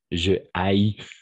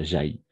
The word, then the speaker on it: haïs: Mais par contre, avec le H aspiré, n'accepte pas. Donc, on va dire je haïs. D'accord? Et pas j'haïs.